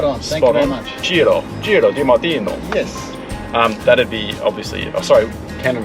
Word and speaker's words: Ciro Di-Martino: Today we're in the car with Ciro Di-Martino. Did I pronounce that correctly? Spot on. Thank you very much. Ciro Di-Martino.